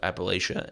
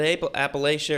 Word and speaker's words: Appalachia: But yeah, it's in the heart of Appalachia, and there's Is that Appalachia or Appalachia? I mean, I think it depends on who you ask.